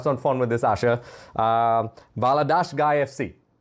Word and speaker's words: Valadares Gaia FC: Valadares Gaia FC. Did I do that correctly? Not bad? Yeah, correct pronunciation.